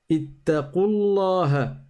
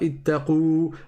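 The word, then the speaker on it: اتقوا الله: Ittaqullaha. On ne dit pas ittaqu. On fait complètement disparaître la prolongation.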